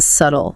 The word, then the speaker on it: subtle: Silent b in subtle.